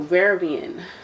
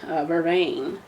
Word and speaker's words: vervain: that talks about different crystals talks about thistle varian vervain so how you pronounce it uh time t in general talks